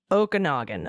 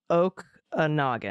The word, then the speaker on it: Okanagan: most beautiful areas and is pronounced Okanagan okay o Oak a nogin oh yeah oin there